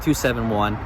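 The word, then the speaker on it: 27WON: 271, and it is pronounced 271 according to the president of 271. That's how he says it.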